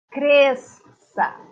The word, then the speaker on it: cresça: Mas o som é apenas um. Cresça. Quando você fala com apenas o som de um. Cresça. Na separação silábica, essa palavra tem duas sílabas. E aí você diz cresça. Você escreve cresça, mas você fala cresça. Por quê? Só tem um fonema, só tem um som.